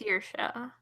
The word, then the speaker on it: Saoirse: It's Saoirse.